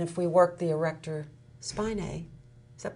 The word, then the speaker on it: spinae: If we work those, and if we work the erector spinae, is that pronounced right?